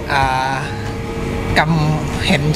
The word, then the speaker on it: Gingham: ของ เพลง ที่ มี ชื่อ ว่า กรรม เห็น ชัด ออก เสียง ให้ ถูก ต้อง ครับ ผม ก็ คือ ตัว H ไม่ ออก เสียง นะ โอเค เรา พร้อม